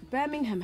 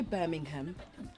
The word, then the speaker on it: Birmingham: first of all like birmingham has three syllables in there in it and we're actually well spoken you know to be fair and when i say birmingham i say birmingham she says she inside